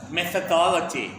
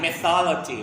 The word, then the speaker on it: methodology: would like you to be careful when you are pronounce the word methodology not mythology right I heard